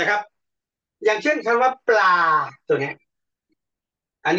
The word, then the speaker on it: ปลา: รูป นิด นึง อ่ะ ปลา เรา คน ไทย เนี่ย จะ ออก เสียง ป่า เป็น อย่าง นี้เรา เรา ลืม ตัว เปรอะ ตัว นี้ ปลา ปลา ไม่ ใช่ ครับ